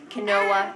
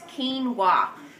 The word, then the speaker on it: quinoa: people don't know those sick Kanoa it's quinoa so that's um a whole